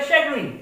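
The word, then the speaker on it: chagrin: शैगरीन, इसका right pronunciation क्या होता है? शैगरीन। पर इसको हम एक ट्रिक के थ्रू इसको प्रोनाउंसिएशन कर रहे हैं चैगरीन, यानी चाय गिरने से वो क्या हो गया?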